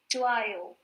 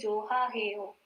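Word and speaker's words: 좋아요: Chuayo. Right? Chua heo. We don't say joha heo. We don't say that, right?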